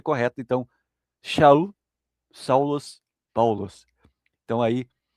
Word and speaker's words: Shaul: E os gregos tinham essa, essa, essa dificuldade com a palavra, com a letra shin do hebraico, essa pronúncia, Shaul, Shaul.